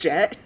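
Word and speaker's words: Jecht: I might be saying it slightly wrong, but I'm pretty sure it's pronounced Jet.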